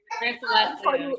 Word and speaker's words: Leslia: You know, I was, you know, and how do I pronounce it? Leslia? Leslia, yeah. Yes.